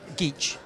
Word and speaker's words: Geach: How do you pronounce it? Geach.